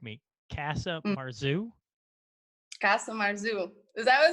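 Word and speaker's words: casu marzu: Now, when I butcher the pronunciation of this, you can correct me. Casa Marzu? Casa Marzu.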